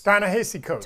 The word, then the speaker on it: Ta-Nehisi Coates: Ta-Nehisi Coates. Ta-Nehisi I believe is how it's Coates.